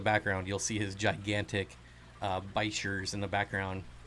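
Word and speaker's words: bichir: How do you say it? Bashir, like Zen said Bashir. Bashir. I think that's a common one. Sheer. Bicker. I hear people say that a lot, and it bothers me for some reason.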